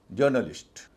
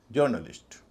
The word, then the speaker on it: journalist: तब अ को थोड़ा लंबा खींचा जाता है, जैसे जर्नलिस्ट, JOURNALIST। इसको जर्नलिस्ट नहीं कहेंगे, जर्नलिस्ट।